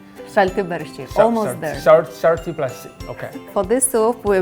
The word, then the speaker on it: Šalti barščiai: Can you pronounce that name again? Šalti barščiai. Still can't get it. Šalti barščiai. Šalti barščiai. Almost there. Šalti barščiai.